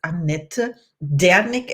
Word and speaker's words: Annette Dernick: my today's guest is Annette Dernick, and I have to pronounce it German in the German way because she's from Germany, as I am.